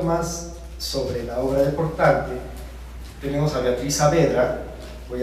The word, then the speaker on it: Portante: Bajo influencia de Italia, nace Gian Portante, así lo pronuncia él, Portante, desde Portan, porque es la sentencia italiana.